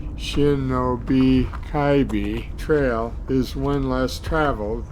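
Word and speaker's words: Shinob Kibe: hiking and in some cases running shanab kibbi pronounced Shinobi kaii Trail is One Less Traveled but brings great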